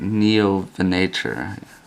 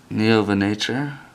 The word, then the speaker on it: Neovenator: I always forget how to say it. Neovenator. I guess that's the right pronunciation.